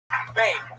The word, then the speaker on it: Bane: Is it Beam or Ben? Bane. Beam? It rhymes with name.